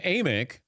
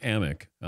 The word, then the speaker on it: Amick: time thank you Sam amick but he's been mispronouncing his name so it's Sam ammok USA Today NBA insider